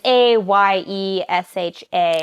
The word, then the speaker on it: Ayesha: It's called Aisha at Last, or Aisha. I don't know how to pronounce it. It's Ayesha.